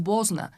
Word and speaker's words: Bosna: Ay, la playera, bueno, Bosnia-Herzegovina, porque la parte de la I es como nosotras en español, lo pronunciamos, pero en general es Bosna.